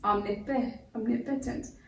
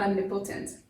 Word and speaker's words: omnipotent: Very much the way this O has taken on a short E sound. It's omnipotent, not omnipotent, which we had to correct ourselves on.